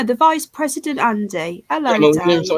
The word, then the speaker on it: Kamala: Isn't it Camelina or something like that? I don't know how to say it. Camel Toe Harris, yeah, but what's the proper name? I have no idea. Kamala, that's it.